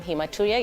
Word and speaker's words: hematuria: Today, what we had in mind is a topic by the name hematuria. You actually pronounced it very well.